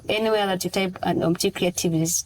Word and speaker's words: Omuti Kreativ: So anywhere that you type, and Omuti Kreativ is spelled as OMUTI. Creative is with K. It's creative. It's KRE. It's already creative itself. Yeah. KREATIV.